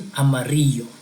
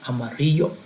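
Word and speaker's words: amarillo: the next one is Amaro again remember the Double L is going to sound like a y in English Amaro that will be the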